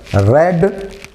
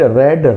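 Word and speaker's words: read: तो हमारा आंसर होगा, I have रेड many books. ये रीड नहीं है, ये वर्ब का थर्ड फॉर्म होता है, तो इसका उच्चारण चेंज हो जाता है। रीड, रेड, रेड, याद रखिएगा, ये रेड पढ़ा जाएगा।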